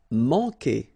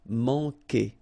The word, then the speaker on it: manquer: Manquer. Okay, remember when we get this Q, after that automatically we get this U, but then we don't pronounce the U, okay? So manquer. So it's really que.